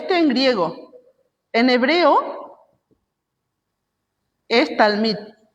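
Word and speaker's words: תלמיד: Y el equivalente en hebreo es talmid, ¿sí? En hebreo, en griego. En hebreo es talmid. Talmid.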